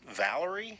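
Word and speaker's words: Vallory: kind of got an interesting spelling but it's pronounced Valerie yeah V - a ll o ry she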